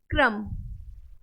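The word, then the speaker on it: crumb: कर D death clear क्रम क्रम यहां पर भी बी साइलेंट है और यह तो मोस्टली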